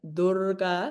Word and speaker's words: Dura: So, Dura, so it's pronounced with like the long u dur dura.